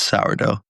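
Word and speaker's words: Shough: Tyler Shuck. Shuck. It's sourdough.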